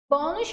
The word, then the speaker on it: bônus: Bônus, qual é a sílaba mais forte? É o bom.